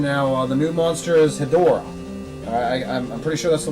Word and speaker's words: Hedorah: The new monster is Hedorah. I'm pretty sure that's the way you pronounce it.